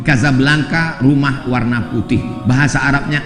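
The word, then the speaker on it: Casablanca: kuliah nama negaranya Maroko ibukotanya tulisannya Caca blancha cara bacanya Kadzab langka Kaza artinya rumah Blanca artinya putih Kasablanka rumah warna putih bahasa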